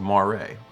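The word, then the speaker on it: moiré: It's called moire. How do you spell that? Like the eel. Well, that's a moire eel. Moire is Moire.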